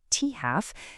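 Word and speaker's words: t½: So half-life, which is written as a T with a little half subscript, and we pronounce it T-half, is literally just the time it takes for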